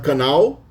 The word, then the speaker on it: canal: So typically we have canal. The L itself is pronounced more like a W.